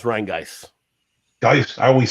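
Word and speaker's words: Rhinegeist: It's Rheingeist.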